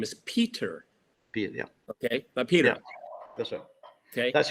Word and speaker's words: Peter: but I say it my name name is Peter pet yeah okay Peter that's right okay that's right but the but the but the bad pronunciation in England is Peter Pier Pier that's mean no I know and and